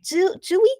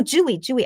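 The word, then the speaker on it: Tzuyu: Dewey? No, Jewy.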